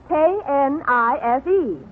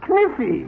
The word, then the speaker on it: knife: K-N-I-F-E. K-N-I-F-E. That's Kniffy. No, the word is knife. K is the silent letter. K is always silent in front of N.